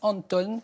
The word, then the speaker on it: Antoon: ce matin ça alors ça s'écrit antoun à n 2 t2 au hand krings mais ça se prononce anton anton krings et sans